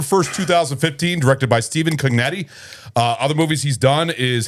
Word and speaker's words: Cognetti: Yes, Hell House, released November 1st, 2015, directed by Stephen Cognetti.